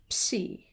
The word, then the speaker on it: ψ: The letter is actually a combination of the p and s. So it could have been written in a different alphabet. It could have been written with p and sigma, but it has a symbol for itself, psi. And it's a beautiful symbol, that trident-looking thing. Psi or psi makes a ps sound.